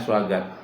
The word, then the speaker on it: Swaggart: Swaggart tuh tulisannya Swagarte. Bacanya Swaggart. Suanya itu pakai W.